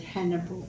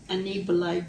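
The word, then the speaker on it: Annibale: Otherwise, some people called him the English version of Saint Hannibal, but in Italian it's Saint Anibale de Francia.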